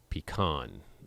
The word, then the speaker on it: pecan: I say pecan. I emphasize the last syllable.